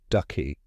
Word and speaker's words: synecdoche: Looks tricky, but just remember, it starts with sin, like synchronize, and ends in D-O-C-H-E, pronounced ducky.